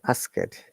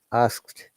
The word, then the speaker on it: asked: them correctly especially this one ask and they pronounced like ask it it is not ask it it is asked though this t d sounds like t but